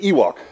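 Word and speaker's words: EWC: as quad WC and I pronounce it Ewok so any of you who are Star Wars fans will recognize that as an Ewok from the planet Endor and uh um so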